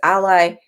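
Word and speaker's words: Alai: um joseph lay uh a la ally i was say it wrong it's ally spelt a-l-a-i and um he does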